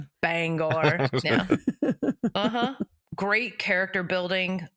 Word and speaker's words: Bangor: He's not everything's a banger. No, no, no. Wait, you mean Bangor? Yes. Shut up. I do actually. That's Sorry, I mispronounced it. Bangor.